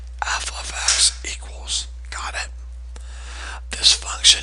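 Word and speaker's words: f(x): do you pronounce this that is not f times x it is pronounced f of x please learn to say that correctly f of x equals got it this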